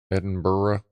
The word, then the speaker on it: Edinburgh: August W okay Edinburg Edinburough Edenborough Edinburough okay so it was the edin like burough kind of thing edin burough however you pronounce it as fine but it's the other